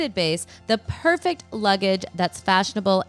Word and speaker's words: Beis: let me just say bass is spelled be i s but it sounds like Bas okay get sophisticated go